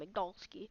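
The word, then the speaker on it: Igdalsky: Nick Igdalski, that's how you pronounce his name, Igdalski.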